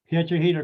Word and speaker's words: Piedrahita: Piedrahita, because it rhymes with margarita.